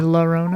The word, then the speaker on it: La Llorona: Yeah, it's called La Llorona. It's spelled LLORONA. I did not take Spanish in high school. Llorona or La Llorona?